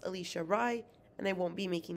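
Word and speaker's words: Alisha Rai: let you know that it is pronounced alicia rai and i won't be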